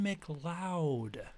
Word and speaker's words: MacLeod: exploring the music of Kevin McLoud not load as I originally thought yeah I gotta pronounce his name right McLoud Kevin McLoud an American